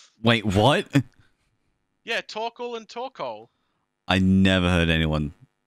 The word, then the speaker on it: Torkoal: Yeah, Torkoal and Torkoal. I never heard anyone pronounce it as Torkoal. Torkoal. Like snorkel. Well, some people just kind of blend the O-A-L sound into one thing.